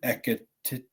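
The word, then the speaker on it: Ekitike: And when it comes to Frankfurt, I do think that they've got a great striker in Ekitete. Is that how it's pronounced? Something like that, yeah. Yeah, like TK.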